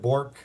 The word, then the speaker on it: Bourque: I go with Bourque. It's the Bourque, French.